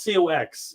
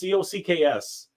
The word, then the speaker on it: Cocks: By the way, it is not COX. It is COCKS. Believe it or not, his name is spelled COCKS. That is actually how it's spelled.